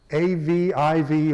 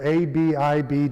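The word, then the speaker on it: אביב: And it also names that first month Aviv or Abib, depending on your pronunciation of the Jewish word. I prefer Aviv, but you may see it written many places as Abib, A-B-I-B.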